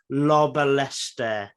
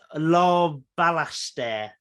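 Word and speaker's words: Larbalestier: his mother's last name lobbalester and i've definitely butchered that but la balaster is the way i should have pronounced it there we go second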